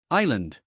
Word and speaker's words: island: The S is silent. We say island.